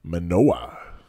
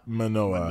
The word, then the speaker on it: Manoah: today's story is about Manoa the man Noah no I don't it's spelled like it's just Ma and like Noah like Noah's Arc Noah right ma manoah Manoa Manoa guy it's